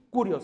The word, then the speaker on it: Kyrios: Y cuando dice Señor, la palabra griega es Kyrios. Curios, se escribe Kyrios, que significa Señor, dueño, Rey, Señor.